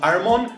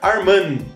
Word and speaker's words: Armon: O Armon Gilliam estava irritado que todos pronunciavam o seu primeiro nome erroneamente, pronunciavam Armon, quando deveriam pronunciar Arman, apesar do O não era Armon, era Armin.